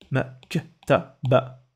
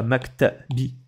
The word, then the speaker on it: maktaba: Donc, maktaba. C'est pas maktabi. C'est pas maktabou. Ça fait maktaba.